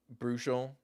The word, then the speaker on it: Brushel: It's Bruchel, yeah?